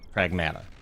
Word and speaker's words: Pragmata: Yeah, but in the game the characters say Pragmata. Prag mata, mata, not moda. Not moda.